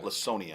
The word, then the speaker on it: Laconia: Arcadia at Clinton, and the winner gets Lancaster, or is it Laconia or Lasonia? Lasonia. Okay, we'll go with the soft C there. The soft C, yes.